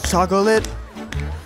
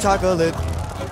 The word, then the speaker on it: chocolate: He starts with a standard aw, then he uses ah to rhyme with socket. But only Wonka's makes your eyes pop out the socolates. And then he goes back to aw to rhyme with Wonka.